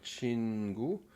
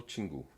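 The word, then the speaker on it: 친구: Juste un seul point pour chin, je prononcerai le chin un peu plus court. Donc au lieu de dire chingu, je dirais plutôt tingu. C'est c'est plus court, plus sec.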